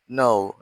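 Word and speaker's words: know: kue yang dia terbaca contohnya adalah no yang artinya tahu kemudian ni artinya ludut knya tidak dibaca tapi yang dibaca n-nya kita bahas alfabet l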